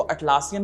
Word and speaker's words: Atlassian: ठीक है, तो वो कंपनी है नन अदर देन एटलासियन। ठीक है, अब हो सकता है मेरा प्रोनाउंसिएशन थोड़ा सा अलग हो, कुछ लोग इसको अटलासियन भी बोलते हैं, कुछ लोग एटलासियन भी बोलते हैं, तो यार वहां